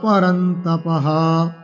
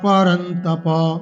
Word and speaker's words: পরন্তপ: ক্ষুদ্রম হৃদয়দৌর্বল্যম त्यক্তোত্তিষ্ঠা পরন্তপঃ, তপঃ নয়, বারবার এই ভুলটা করছি ইচ্ছা করে যাতে সকলেরই ভুলটা না হয়। त्यক্তোত্তিষ্ঠা পরন্তপ, কেন বিসর্গ নেই? কারণ এখানে পরন্তপ অর্জুনকে বলা হচ্ছে সম্বোধন করে, নর শব্দের সম্বোধনের এক বচনে বিসর্গ নেই, নর আছে। পরন্তপ, তাহলে ত্যক্ত, আমরা ত্যক্তোত্তিষ্ঠ